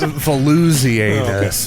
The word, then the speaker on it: Volusianus: In a joint rule with his son Volusianus. So there's bony anus and floozy anus. Volusianus. Thank you for clearing it up.